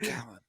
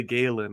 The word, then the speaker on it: Gallen: Zac Gallen. You always default to the Galen.